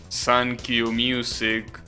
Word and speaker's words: 39 Music: Well, I was saying, there are songs, like for example, Sankyu Music, which is a Vocaloid song that is written 39 music. That's because 3 is pronounced San and 9 is pronounced Q. So that's one of the examples.